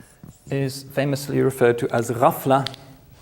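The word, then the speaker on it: غفلة: famously referred to as rafla the GH sound is pronounced roughly like this the French R it's a kind of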